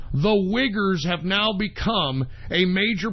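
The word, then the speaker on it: Uyghur: problem and guess what the wiggers I'm not even kidding that's how you pronounce the Chinese Muslims the wiggers have now become a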